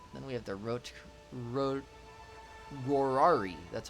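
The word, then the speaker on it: Rorarii: Then we have the Rorari.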